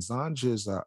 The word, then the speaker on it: Zanj: In Wikipedia, it mentions the Zanj dynasty, and Zanj is in our Arabic is pronounced as Zanji, Romanized Zangi, Turkish Zenchi, was a name used